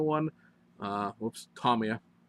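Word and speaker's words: Tomica: you must I mean must go buy the Tama one uh whoops Tomia pronouncing the name wrong you must go buy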